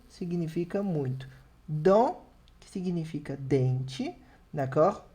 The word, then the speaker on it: dent: Dent, que significa dente, d'accord? Dent, sem pronunciar o T.